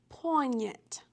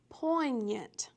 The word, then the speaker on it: poignant: So this week's Word of the Week is poignant. Poignant. All right, it's almost like a diphthong in there for those of you who understand what a diphthong is.